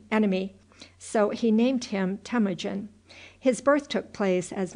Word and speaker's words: Temujin: So he named him Temujin.[B] His birth took place, as nearly as can now be ascertained, in the year of our Lord 1163. [Footnote B: The name is intended to be pronounced _Tim-oo-zhin_.] Such were the circumstances